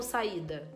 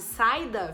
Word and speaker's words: saída: a pronúncia ajuda muito você fala saa ou saída saída se você falasse saida ficaria juntinho teria o de tongo Mas você fala saída bem separado uma dica legal para